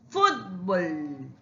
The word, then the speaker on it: fútbol: Fútbol. fútbol. Fútbol. Tiene el acento en la penúltima.